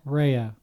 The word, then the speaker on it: Raya: Raya.